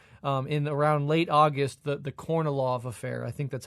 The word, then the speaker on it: Kornilov: It's pronounced in Russian Kornilov, but okay. Kornilov is fine, totally fine.